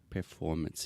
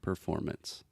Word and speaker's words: performance: students want to say performance II performers yeah so we do not pronounce that final E it's just performance performance perfect okay likes